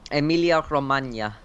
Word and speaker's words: Emilia Romagna: I think it's called the Emilia Romagna. I think it's like the G is a Y sort of sound. Emilia Romagna Grand Prix, because we've had three Grand Prix at Grand Prix in Italy now.